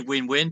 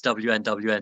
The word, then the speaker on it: WNWN: Yeah, so it's written WNWN. We say win-win, but about 50% of people slightly embarrassingly just read it out as WNWN.